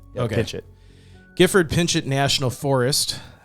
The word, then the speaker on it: Pinchot: I said gford pitchit I think it's pinch like it's you say it fast pinch it pinch it gford pinch it national